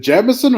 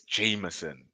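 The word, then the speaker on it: Jamieson: Jameson and is it jamson or Jameson it's Jameson that's how you say Jamon that's how you say it that's how you say the whiskey but how do we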